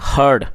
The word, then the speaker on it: heard: HEAR, हियर का मतलब होता है सुनना, और ये सेकंड फॉर्म है हर्ड, तो उसकी जो प्रोनाउंसिएशन है वो है हर्ड। इसको हार्ड नहीं पढ़ेंगे, इसको हर्ड पढ़ेंगे।